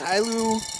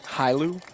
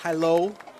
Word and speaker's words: Hilo: I I pronounced it wrong. It's It's uh It's Hilu Hawaii. Hilu, not Hilo.